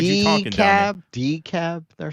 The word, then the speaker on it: DeKalb: And DeKalb. All right. So that's how we were saying it, DeKalb.